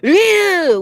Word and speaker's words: Ryu: So his name when he says in Japan, it will be Ryu with an L. Like you don't pronounce it with an R. So His name is technically- Lou.